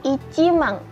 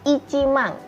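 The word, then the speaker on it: いちまん: Jadi 10.000 adalah ichimang, bukan juseng tetapi ichimang.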